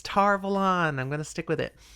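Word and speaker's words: Tar Valon: tarvalan has stayed strong did you see that it almost tumbled out wrong so proud of you for being wrong and it was great and the tv show has said it right it's tarvel on i'm gonna stick with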